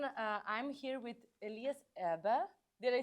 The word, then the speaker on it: Erber: Uh, I'm here with Elias Abba. Did I say it right? Almost. Almost. But I was trying. I was trying pronounce it right. Elias Aba.